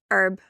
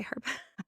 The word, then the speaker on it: herb: Herb. In Australia, we say herb. Americans say herb.